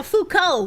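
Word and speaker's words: Foucault: Fukco would be the best way to pronounce it if you're pronouncing it correctly.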